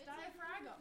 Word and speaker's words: diaphragm: so weird there's a there's a g in diaphragm isn't there yeah it's diaphragm it's how you spell it see i love